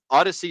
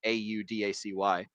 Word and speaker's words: Audacy: Odyssey spelled like Audacity, but like not like the Odyssey in the Iliad, but Audacity like Audacy.